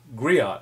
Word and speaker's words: griot: ter the girro uh which you would pronounce um griot I'm sorry g r i o t despite endures maternal collection